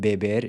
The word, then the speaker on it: beber: Using the verb beber, to drink, as an example, the E in beber is pronounced with a closed E, and it stays closed in the I form.